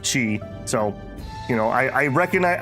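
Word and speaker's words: qi: And the reason literally is I I mostly used to consume Japanese media and in Japanese it's key instead of chi.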